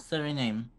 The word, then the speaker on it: Suriname: Suriname. How is it pronounced?